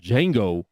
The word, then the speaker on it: Django: Patrick and Young Priest the Preacher, called Django, right here, Speak Life Radio. And we'll be back, man, to close it out right here. D-J-A-N-G-O. The D is silent.